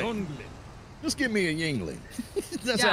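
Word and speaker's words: Yuengling: They're like, oh no, that's like Yongling. Like they were pronounced it for him. It's like, no, it's Yingling. It's Yingling.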